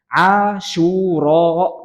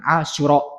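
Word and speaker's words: عاشوراء: Walamma su'ila an shaumi Asyura, cara baca Asyura itu syu-nya panjang. Asyura gitu, bukan Asyura, bukan.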